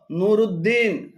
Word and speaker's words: নুরুদ্দিন: হিসেবে উদ্দিন লেখেন যেমন নুরদ্দিন সিরাজউদ্দিন শামসউদ্দিন আলিমউদ্দিন এভাবে উদ্দিন বলে আরবিতে আলাদা কোন শব্দ নেই এগুলো শুদ্ধ উচ্চারণ হল নুরুদ্দিন নুরুদ্দিন সিরাজুদ্দিন সিরাজুদ্দিন শামসুদ্দিন